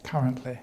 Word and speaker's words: currently: the stress goes so the word currently has the first syllable stress currently yes and the extended